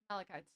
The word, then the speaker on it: malachite: Is it malachite or malachite? Malachite. Okay, malachite, kingfisher. I always wonder how to pronounce Well, that.